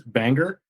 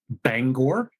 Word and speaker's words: Bangor: a city in Maine called according to movies banger but it's actually pronounced Bangor which is right isn't that where Stephen King